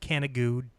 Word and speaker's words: Canigou: Yeah, that's Canigou. I've talked about it. I think it's pronounced Canigou, but it's spelled Canigou.